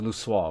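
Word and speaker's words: Louisoix: the words of archon how was this one pronounced again luo luah it was luah wasn't it yeah Aron Luis while not written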